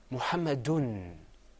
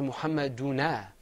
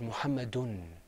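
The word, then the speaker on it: مُحَمَّدٌ: extra noon is second okay listen muhammadun I didn't say Mohammed Mohammed uno I didn't say Mohammed una or Mohammed Unni I said muhammadun that noon that noone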